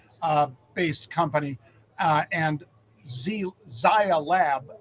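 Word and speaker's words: Zai Lab: based company uh and Zaya lab I believe is how they pronounce it but zlab is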